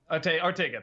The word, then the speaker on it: Ortega: Ortega, thank you.